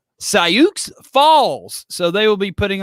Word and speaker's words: Sioux Falls: sioux falls south dakota it's pronounced cyuk's falls so they will be